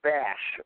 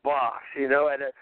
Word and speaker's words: Bas: It's like when they will pronounce, like with me, they call me Bass. Like, if you want to piss me off, call me Bass. I say that's a fish. That's a double ass. I'm Boss, but I can understand that because that's, people don't know.